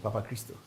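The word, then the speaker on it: Papachristou: Christo. It's Greek. It sounds like Ghanaian, Papa Christo.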